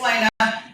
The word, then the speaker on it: Lena: Um I didn't even see it, but I thought, Lena, that like I thought she did well. Did I just say your name wrong? No, you you said it right. It's Lena.